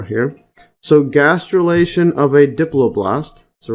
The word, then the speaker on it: diploblast: uh so going here this dipl blast diploblast Diplo blasty let's see the pronunciation diploblast yes so Diplo blasty is a